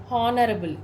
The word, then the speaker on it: honorable: For hour, the sounds which starts with O instead of H. Honorable. Don't read it as honorable. It is honorable.